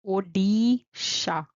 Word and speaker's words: Odisha: Then we have O, D, D, like dog. Odisha, Odisha, Odisha.